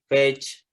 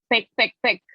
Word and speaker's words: page: Ingat ya, ini saya sering banget dengar ini bilangnya fake. Ya, dengar di mahasiswa juga, dengar di orang-orang juga fake. Ini bacanya page.